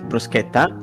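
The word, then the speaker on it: bruschetta: too I mean in the correct like perfect pronunciation is BR it's brusketa BR you're pretty close brusa wow things have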